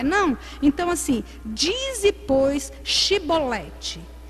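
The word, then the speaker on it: Chibolete: Então assim, dize pois Shibolete. Quando eles iam falar, eles não conseguiam, falava Sibolete. Por quê? Porque a língua, foneticamente, ele não conseguia pronunciar.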